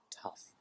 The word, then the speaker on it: tough: while you were there tough imagine the spelling is T uff huh okay we have